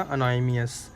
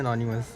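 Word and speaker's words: anonymous: पता गैस मुझे खुद नहीं आता था बोलना, जब मैं अनोनिमस नाम रखा था ना, मैं उसको बोलता था अनोनिमियस, और मुझे नहीं पता था इसको प्रोनाउंस करते हैं अनोनिमस, और मेरे को बाद में आया लॉल।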